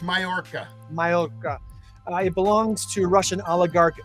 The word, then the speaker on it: Mallorca: million dollar yacht in mallorca mountain actually m-a-l-l-o-r-c-a yeah it's pronounced mayorka it belongs to russian